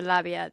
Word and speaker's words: labia: the sides of the labia. The only way... Do you pronounce it labia or labia? Labia.